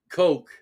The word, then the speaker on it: Koch: Koch. You mean Coke? Koch, yeah, Koch. Yeah, it's spelled Koch, right? But Coke.